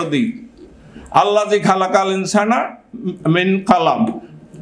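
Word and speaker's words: قلم: আল্লাযী খালাকাল ইনসানা মিন কলম, যে আল্লাহ তোমাদেরকে শিক্ষা দিয়েছেন কলমের সাহায্যে।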